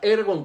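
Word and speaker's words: ἔργον: versículo viene del original griego herbón así como se escucha ergon con acento en la primera el argot que sí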